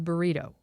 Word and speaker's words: burrito: Because apparently I say burrito instead of burrito. Yeah, you do put the emphasis on the toe.